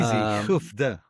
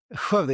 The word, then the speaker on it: Skövde: live from Jerusalem, and I'm live here from Skövde. I'm not going to ask you to pronounce it. It's you have this strange word. It's easy. Skövde. Skövde, yeah, that's good.